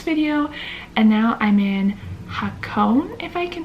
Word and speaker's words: Hakone: was my last video and now I'm in hakone if I can pronounce it correctly h-a-k-o-n-e I can put up